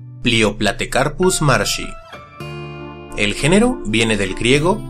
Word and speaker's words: Plioplatecarpus marshi: ocasión realizaremos la historia y el cómo se pronuncia leo platicar plusmar si el género viene del griego play on que